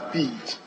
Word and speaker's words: Bid: Ziden bid anta zumo. Mr. Speaker, my name is pronounced as Bid, not the way it was pronounced. It's Bid. And what has Ziden?